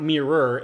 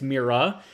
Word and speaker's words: Mira: here in a second it's not mirror it's mira so mike india romeo